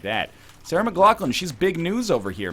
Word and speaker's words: McLachlan: an angel here, Sarah McLachlan style. And now it's pronounced Sarah McLaughlin. No, it's not, you know?